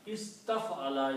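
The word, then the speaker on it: استفعل: Now the pronunciation will be alif combines with sin, is, ta combines with fa, taf, ala. Istaf'ala is the actual word.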